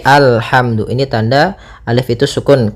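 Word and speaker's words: الحمد: Maka apabila ada alif lam di awal bacaan, maka a-nya dibaca dengan fathah. Alhamdu. Nah, di sini bukan ulhamdu tapi alhamdu.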